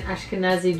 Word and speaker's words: Ashkenazi: grandparent, or great-grandparent who was 100% Jewish, 100% Ashkenazi Jewish. That's how you pronounce it.